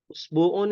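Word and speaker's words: أسبوع: Hamzah qot namanya ya Hamzah qot Hamzah qot itu dia mau di depan mau di belakang ya Mau di tengah tetap dibaca ya contohnya usbuun usbuun itu artinya sepekan ya mau pakai WA tetap dibacanya wa usbuun karena jelas nih namanya Hamzah qat ya kalau ini Hamzah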